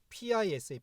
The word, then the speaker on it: PISA: 가장 세계 적게 하면서 그 pisa 서라고 보통 발음하는 거 같은데 거기서 1등을 하고음 대한민국은